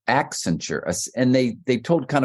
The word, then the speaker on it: Accenture: But that to me was just very stumbly um accent accenture. And they they told kind of competing stories. It's about an ascent even though it spelled like accent.